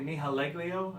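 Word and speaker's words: Nihilego: He looks like he's, like I said, he looks like Nahaglio, or a.k.a. Nihaleglio.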